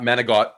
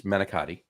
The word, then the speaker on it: manicotti: And it's not manigot. It's manicotti. Yeah.